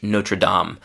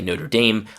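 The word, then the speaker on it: Notre-Dame: One last thing that I saw or partially saw was uh the church Notredam or in English pronunciation people say Notre Dame. I prefer the French one Notredam which means our lady.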